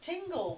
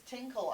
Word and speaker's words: Tingle: it's tinkle isn't it no it's tingle with a g no i'm just reading the japanese no it is tingle yeah yeah i know i know what tingles name is no i forgot yeah in japanese it's tinkle i guess because thank